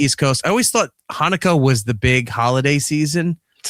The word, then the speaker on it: Hanukkah: Hanukkah. I said Januka. I know it's Hanukkah.